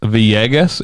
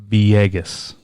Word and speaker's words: Villegas: It is Villegas. It is spelled Villegas, 2 L's, pronounced Villegas. Villegas.